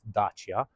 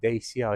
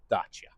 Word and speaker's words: Dacia: So, yes, it is pronounced Dacia. It's not DEIA, it's not Dacia, it's Dacia.